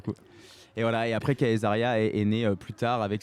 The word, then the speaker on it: Caesaria: Ça aurait pu être Césaria aussi? C'est la prononciation latine, car ça D'accord. signifie la femme de César en latin. Ok. C'est la Kayseria en fait.